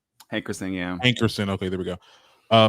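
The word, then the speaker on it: Hankerson: okay so apparently elia's uncle and manager barry heckerson made a new social media page did i say it right hey christine yeah ankurson okay there we go uh made a new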